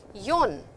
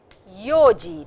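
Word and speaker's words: 四時: So over here you will see that yon yon is a little different. It is not yon it is yoji this yoji this. So for time please remember it is yo and not yon.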